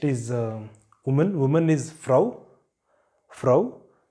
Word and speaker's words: Frau: Frau. Here also you pronounce it because it is appearing in the middle of a word.